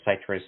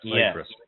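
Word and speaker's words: Cytrus: adulthood, which is called Citrus Moonlight. They're about 30. That's spelled C-Y-T-R-U-S. C-Y-T-R-U-S. Citrus. Yeah, citrus, not citrus. Some people make that mistake.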